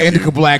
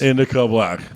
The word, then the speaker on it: Indikca Blk: Anyway, we got Indikca Sorry, Black. I had it wrong. Thank you. We got Indikca Black here in the room with us. Indikca Black.